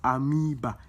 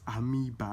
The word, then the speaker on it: amoeba: It's amoeba. The o is silent. I'm already teaching you guys English. The o is silent. It's amoeba, not amoeba.